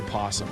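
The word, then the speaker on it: opossum: You had to tell students to not pet an apossum. A we just say possum, right? We don't pronounce the O.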